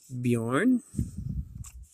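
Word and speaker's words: Björn: B has to be Bjorn. The J is silent. O-R-N. Bjorn.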